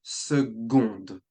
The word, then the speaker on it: seconde: Seconde. We would pronounce the D when second is feminine, so seconde.